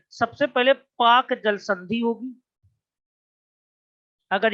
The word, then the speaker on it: Palk: उसके बाद पाक खाड़ी होगी, ये पाकिस्तान वाला पाक नहीं है, एक अंग्रेज थे उनका नाम पाल्क था, यहाँ पे PALK होता है, एल साइलेंट है हमारा।